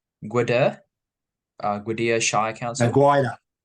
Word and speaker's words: Gwydir: So before entering Parliament, you served as the mayor for, correct me if I'm pronouncing this wrong, Gwydir, Gwydir Shire Council? Gwydir.